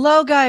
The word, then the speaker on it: Logi: Oh, Low guy is how is it Oh, it's pronounced?